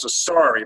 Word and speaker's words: Carceri: His last name is Sorcery, but it's spelled Carceri.